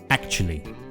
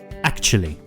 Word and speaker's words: actually: well Lea but actually we pronounce it with three syllables actually try it with me actually the word actually is